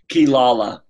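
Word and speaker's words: Quilala: do you say Chris's last name yeah know kilala kilala I got it now but I'm just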